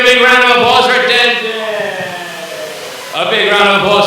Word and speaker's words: Denzin: Oh, it's Denton's birthday. So on the... Oh, well, okay. Denton, not Denton. I know how to pronounce my D's and T's.